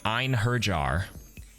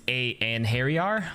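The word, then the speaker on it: Einherjar: to pronounce this word it's like a norse word uh a in hairy in and harry are i think is how you say it i looked at it at first i'm like ein herjar it's a and harry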